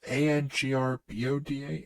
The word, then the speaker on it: Angrboda: my god, is it Angrobda from God of War Ragnarok? oh, Angraboa. Yeah. Oh, they spelled it wrong. No. The Well, I don't know how I to don't. pronounce it. It's Angrboda.